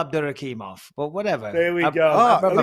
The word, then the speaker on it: Abdurakhimov: Let's just go with Abdurrahimov, shall we? Well, we can, or we can just go, or we can go with the actual pronunciation, Shamil Abdurakhimov.